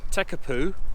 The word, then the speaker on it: Tekapo: word of the name TECA Pooh yeah so if you see in the way this opponent the mare is spelling it well actually they're pronouncing the P as a bee almost appears and it's almost